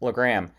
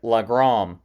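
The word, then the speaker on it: Legram: badly the voice actors butcher the name Legrand they say it lagrom seriously that's horrible rain's voice actor also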